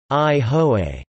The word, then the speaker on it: Aihole: Aihole, pronounced I-ho-a, also referred to as